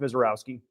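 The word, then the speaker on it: Misiorowski: Yeah, it's spelled Mizorski but pronounced Misowski.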